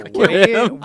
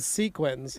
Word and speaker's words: Sequim: Introduction and Forward by Squim's own Dane Hennen. Very Oh, nice. wow. Squim.